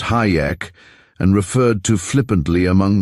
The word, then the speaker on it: Hajek: Fred Hajek too, pronounced Hayek and referred to flippantly among the student nurses as Hijack.